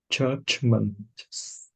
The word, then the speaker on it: judgment: a hard word judgment what do you think this vowel is here uh consonant you 'll be the softball would be foreign judgment no look at my mouth look see how I'm doing a smile judgment chasma judge Church yeah good smile judgment but make sure you've got your Jill there judge judge judgment good yeah so look remember consonant U consonant it makes an ah structure watch my mouth